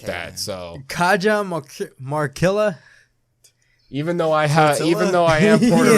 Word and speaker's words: Cajamarquilla: Is this Cajamarquilla? Yeah, Cajamarquilla.